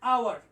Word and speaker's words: hour: আমি উচ্চারণটা বলে দিচ্ছি আওয়ার, আওয়ার। এটার উচ্চারণ হচ্ছে আওয়ার।